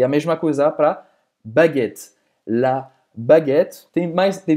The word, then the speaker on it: baguette: A famosa baguette em francês, como se pronuncia? Aha! La baguette, la baguette, la baguette.